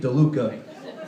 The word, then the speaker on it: DeLuca: That's a hot menu item right now, but I like the chalupa because it rhymes with my last name, DeLuca.